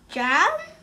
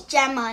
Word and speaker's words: Gemma: Jam? I think you need to go to English classes. You have a big misunderstanding. It's Gemma, not Jam. Pardon me, sir. It's Gemma with two syllables.